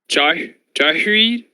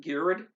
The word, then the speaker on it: Ghired: Duckers, aka Jennifer, is going to be playing, if my pronunciation is correct, Jahreed Conclave Exile. Did I say that right, Jennifer? I'm not sure if you did. I always pronounce them Girid.